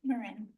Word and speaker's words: Marin: Okay, next up we have uh Marin. Am I pronouncing Marin?